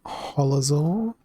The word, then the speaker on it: holoz0r: you Rick hello everyone I am holazole like a dinosaur that's how you say my name uh I need to